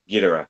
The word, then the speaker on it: Ghidorah: Hold on, give me the pronunciation again. Ghidorah.